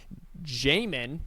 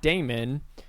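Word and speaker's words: Jamon: Mykel Williams, safety Malachi Starks, and linebacker Jamin, not Damon, Demas Johnson, and Samuel Munden.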